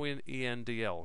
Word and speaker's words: endl: The 'endl' here means that a new line character is also written to the screen.